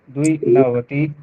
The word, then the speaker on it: द्विनवतिः: एकनवति एकनवति द्विनवति एक नवति एकनवति द्विनवति द्विनवति द्विनवतिः द्विनवति द्वि नहीं द्विनवतिः द्विनवति द्वि पे रुकना नहीं द्विनवतिः द्विनवति त्रिनवतिः त्रिनवति